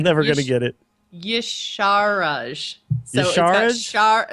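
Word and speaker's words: Y'Shaarj: Yasharaj. So Yasharaj? it's got Shah in the middle. Yasharaj.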